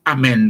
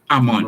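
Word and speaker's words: Amon: That's why I hear them talk about Amen now. Amen. Yes. Amen. Okay. Amen. Amen. Okay. It's really Ammon. Ammon. Okay. Yes. Spell Ammon. The Ammon is spelled A-M-O-N. Ammon. Quite simple.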